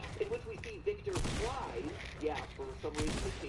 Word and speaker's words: Fries: which we see Victor Fries. Yeah, for some reason they changed his name, so now it's pronounced like French fries.